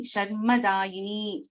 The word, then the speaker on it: Sharmadayini: But when we chant this, when we pronounce, this will become double. Sharvani, Sharmadayini, Kameshwara.